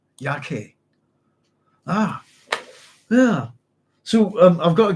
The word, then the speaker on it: Yaqui: And right, that's not the pronunciation, Carlos. I'm going to back up a wee bit. Where was it? So it's the Yaqui Indians. Thank you very much. Yaqui.